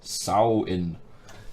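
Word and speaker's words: Samhain: popular Celtic Festival of Samian pronounced sow in is that real or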